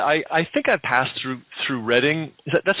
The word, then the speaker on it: Reading: I think I passed through Reading. That's how you pronounce it. Is that right? Yeah, it's Reading, Pennsylvania.